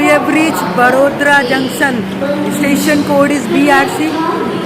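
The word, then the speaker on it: वडोदरा: तो guys we have reached Vadodara junction, station code is BRC का, formally known as Baroda city junction, जिसके लिए BRC, बट अब अगर देखोगे प्रोनाउंसिएशन वर्ड्स बड़ोदरा।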